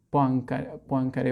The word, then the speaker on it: Poincaré: Es Poincaré, se pronuncia Poincaré, bueno, sí, ahí sí.